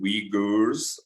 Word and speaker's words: Uyghurs: I actually had to go and Google the pronunciation of that name so it's apparently uyghurs and I was like okay that's a bit